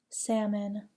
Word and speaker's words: salmon: Do not pronounce the L in the following words: calm, chalk, could, folk, half, Lincoln, palm, salmon, should, talk, walk, would.